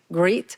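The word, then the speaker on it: grit: I'm reading right now called greet and my son says that I'm saying it wrongly is great like g-r-i-t not greed so but it's very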